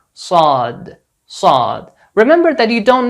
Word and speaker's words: ص: Like the saw sound in these English words. Sorry, salt, solid, sight. Not the sa sound in these English words. Sad, saj, sand.